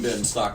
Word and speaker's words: Benstock: It's not Ben, it's Benstock, number one. Make sure you're going to say it right if you're going to say it.